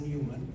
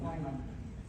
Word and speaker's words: Neumann: So I'm going to give the word to the spokesperson from civil society, Neumann. Neumann. No, it's pronounced Neumann.